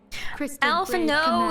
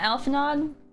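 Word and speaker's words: Alphinaud: Or should I say Alfo? That's how you say his name. Not Alphanod.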